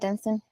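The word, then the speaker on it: Dunstan: Dunston that's how you say his name right Dunston yeah part it just seemed to me like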